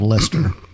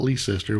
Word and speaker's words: Leicester: But they were going northwest to a town called Lester. Yeah. Lester, North Carolina. I also learned during this research that it is Lester, not Leicester, which is what I've heard it pronounced several different ways.